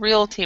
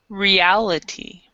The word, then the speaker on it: reality: So instead of realty, we would say reality.